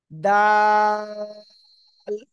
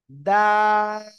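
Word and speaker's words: دال: জিহ্বার আগায় দুই দাঁতের গোড়ায় লাগান লাগিয়ে এখন উচ্চারণ করতে হবে দাল দাল তিন আলিফ টান হবে ঠিক আছে সবাই জোরে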